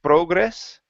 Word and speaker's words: progress: try that last word instead of saying progress PR progress give me a good R here Pro progress progress okay your PR is good now let's work on the gr instead of Gess progress focus on that R progress there you go that's